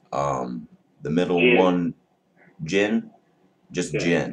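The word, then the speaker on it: djinn: have tangu and I think I might have pronounced um the middle one Jin just Jin d j i n n there's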